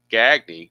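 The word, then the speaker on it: Gagne: Uh Gagy on the replay hitting .314, 27 out of 86. Two homers and 11 driven in. Interesting though that he's pronounced Gagny.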